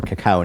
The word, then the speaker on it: cacao: some ground and winnowed cocoa nibs or cacao nibs either pronunciation is correct according to my dear